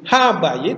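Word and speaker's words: הבית: bingung titiknya masih sama contoh rumah itu dalam bahasa Ibrani bayit Apa dibaca apa bayid tapi kalau diawali dengan ha menjadi ha bayid itu artinya rumah itu wah gampang toh jadi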